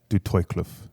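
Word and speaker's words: Du Toitskloof: Yeah, So, not the name of the stream, but the area, Du Toykloof, Western Cape. is that how you pronounce That's it? where, yeah, Du Toykloof, Du Toykloof.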